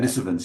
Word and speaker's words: Denisovans: yeah, I will wager it's pronounced, yeah, Denisovans or something like that. Denisovans, yeah, that's right.